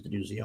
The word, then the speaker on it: Denuzzo: I say Denuzzo because that's how it's spelled. It is Denuzzo.